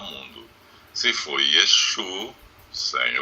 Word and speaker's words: Yeshu: Inclusive diz que o nome dele, pronunciado em aramaico, era Yeshu, não Yeshua.